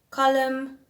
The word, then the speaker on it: column: Then words that end with a silent letter, we've got tomb, we've got thumb, womb, bomb. Then we have dam, hem, column, and autumn. So common letters there, it's the N at the end and the B at the end.